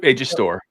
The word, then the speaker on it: Storr: AJ Storr, is that how you pronounce it? Am I saying that correctly? Yep, AJ Storr.